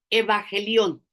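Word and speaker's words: εὐαγγέλιον: Evangelión, te lo voy a dictar. E grande, E mayúscula, V, o sea, B chica, A, dos G de gato, E L I O N. Lo se podría pronunciar evangelión.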